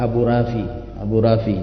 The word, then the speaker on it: Abu Rafi': Biasa kita mendengar kalau kita orang Indonesia ada kunyah, biasanya orang manggil Abu Rafi ya. Tapi kalau pengucapan bahasa Arab itu lebih tepatnya Abu Rafi', terakhirnya itu ain ya, itu lebih tepat.